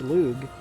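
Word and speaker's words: Lugh: the mythology it's spelled l-u-g-h but it's still pronounced luge i learned that through some very light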